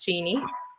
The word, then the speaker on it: Jennie: to tell people that my name for English speakers is spelled Jenny but it's pronounced Genie um it is it